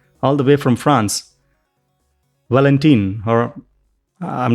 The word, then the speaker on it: Valentin: Valentin? You say Valentin, which is difficult because those vowels don't exist in the English language.